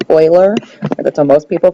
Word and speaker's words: Euler: know it looks like euler or something it's pronounced euler that's what most people pronounce it um and